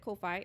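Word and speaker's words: Ko-fi: on the Kofi yes I pronounce it Kofi it's k- fi uh ni's over there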